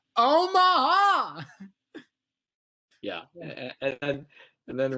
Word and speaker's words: Omaha: It's more of a 3-syllable thing. Omaha.